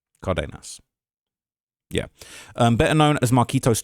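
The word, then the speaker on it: Cárdenas: Let me see how I pronounce that. Let me make sure I get that right. Cardenas.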